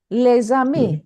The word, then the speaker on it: les amis: Ma'am, so in les, S is not silent. We have said that when after S, the next word starts with a vowel, then we pronounce Vowel. z. Les amis, Les hein? animaux. Mes Les amis. animaux. You remember, les, we write les, but the next word starts with a vowel, so we pronounce Z.